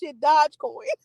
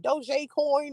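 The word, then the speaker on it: Dogecoin: that dodge coin cause that's not how you say it at all but i say it i say it like that it's not dodge coin it's like doj coin or some [ __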